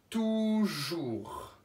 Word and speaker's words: toujours: Avec un T, O, U, qui fait la syllabe tout. Tout, jour. Et puis une petite lettre muette qu'il ne faut pas oublier, c'est le S.